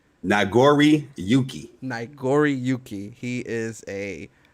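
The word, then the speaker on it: Nagoriyuki: Noriyaki is his name? It is Nagori Yuki.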